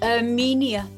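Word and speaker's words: Herminia: a a shrug it's Armenia arjo Spanish so there's an H at the beginning don't pronounce that one but everything else you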